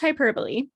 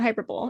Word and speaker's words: hyperbole: But anyway, it is pronounced hyperbole, not hyperbole. It's spelled like hyperbole.